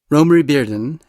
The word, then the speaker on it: Romare Bearden: In this episode, I speak with art historian Mary Schmidt Campbell about the artist Romare Bearden. Romare Bearden, and yes, that is how his name is pronounced, was born in 1911 and died in 1988.